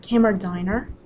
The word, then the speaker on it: Kammerdiner: Last name is pronounced Kammerdiner.